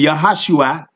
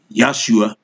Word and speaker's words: Yahashua: It says here in Yahashua, here we go. Yahashua. See? Yahashua. Yahashua. All right, right here. That's how we say his name. All right. You got some people saying Yahshua.